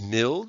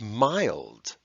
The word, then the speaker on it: mild: vowels are long so instead of milled we have mild instead of balled we